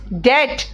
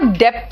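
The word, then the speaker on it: debt: नॉट डेप्ट इट इज डेट इट इज डेट एंड इट इज नॉट डेप्ट इट इ डेटर कर्जदार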